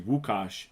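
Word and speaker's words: Łukasz: i was like oh like that's my name like my name is actually wukash i just get people to call me she's like oh so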